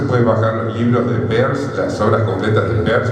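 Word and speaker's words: Peirce: autor llamado Charles Sanders pe lo pronuncia así en el estilo inglés se escribe sí per no pce sino pe Bueno este tipo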